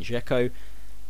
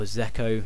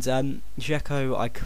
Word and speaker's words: Dzeko: Next one is this man, Edin Dzeko, or Zeko, no, it is Dzeko, that's how you say it, isn't it?